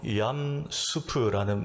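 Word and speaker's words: ים סוף: 히브리어로 얌수프라는 말이 있습니다. 옥수수 수프, 감자 수프 할 때 발음이 같아요.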